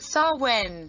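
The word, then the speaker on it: Samhain: ones in heaven also benefit from the ceremony pronounced sarwin this is a gaelic festival that usually begins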